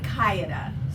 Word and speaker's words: Sakayada: Sakayada. So 4 syllables. Sakayada.